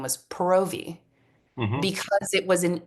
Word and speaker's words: Paravi: And she taught, like through her social channels and through her artistry, that you have to say Paravi.